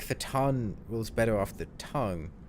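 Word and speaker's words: fhtagn: word I feel like fatan rules better off the tongue but for tag them incorporates that g hmm I'm gonna go with Cthulhu fatan for now and go with the silent G although like most of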